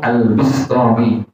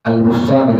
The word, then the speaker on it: Al-Bistami: Jadi bacanya beliau Al-Bistami, Al-Abi Yazid Al-Bistami, bukan Al-Bustami, tetapi dibacanya Al-Bistami.